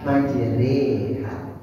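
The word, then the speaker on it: مجريها: Bismillahi majroha dimiringkan rnya menjadi maj. Majri.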